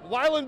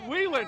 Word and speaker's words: Wheeland: Wyland Builders? Can we get a Go Red? Wheeland. Uh-oh, I said it wrong.